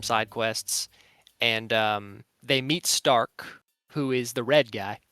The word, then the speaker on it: Stark: Okay, so Stark would be pronounced Stark, and it's like Stark, means strong, you know?